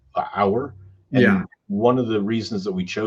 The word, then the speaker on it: Auour: it's spelled auo Ur but it's pronounced hour and one of the